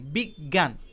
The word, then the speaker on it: বিজ্ঞান: এখানে খুব ভালোভাবে খেয়াল করে দেখুন, বর্গীয় জ এবং ইয় এ দুটি বর্ণ মিলে এই যুক্তবর্ণটি গঠিত হয়েছে, কিন্তু উচ্চারণের সময় গ দুইবার উচ্চারিত হয়েছে। অর্থাৎ এখানে বর্গীয় জ এই বর্ণটি উচ্চারিত হয়নি, ইয় এই বর্ণটি উচ্চারিত হয়নি।